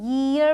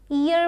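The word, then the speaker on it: year: यक यर ध्यान रखिएगा इसको हम ईयर पढ़ते हैं। बहुत सारे लोग इसे इयर बोल देते हैं।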